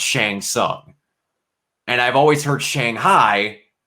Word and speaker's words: Shang Tsung: of mortal kombat because shang tsung is pronounced shang sung and i've always heard